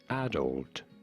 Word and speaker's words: adult: In British English, this is normally said as adult, with an emphasis on the first syllable, on the A syllable.